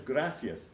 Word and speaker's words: gracias: person answers gracias but here in Puerto Rico we are said to eat the last letter we eat the SN gracias so emporio gracias is really pronounced Gracia you might hear a little Lisp at the end for the S but you really won't hear the S here in Puerto Rico stay